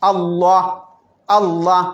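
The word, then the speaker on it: الله: വന്നതുകൊണ്ടാണ് അപ്പൊ ബിസ്മില്ലാഹി ഇവിടെയോ ഇവിടെ അള്ളാക്ക് മുമ്പ് എന്താണ് വന്നത് ളം ളമ്മ് ഫത്തഹ് വന്നാൽ എന്ത് ചെയ്യണം എന്താ ചെയ്യേണ്ടത് പിന്നെ പിന്നെ മുഫഹം ആയിട്ട് ഉച്ചരിക്കണം എന്നാണ് അള്ളാ അള്ളാ അതിനാണ് മുഫഹം നേരത്തെ ബലൂൺ തീർപ്പിച്ച് ഉച്ചരിക്കുക എന്ന് പറഞ്ഞില്ലേ അതേപോലെ എന്നാൽ പിന്നെ അല്ല എന്ന്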